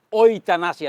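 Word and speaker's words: euthanasia: di dunia medis ada namanya bacanya oanasia tulisnya ethanasia atau bahasa Inggrisnya Mercy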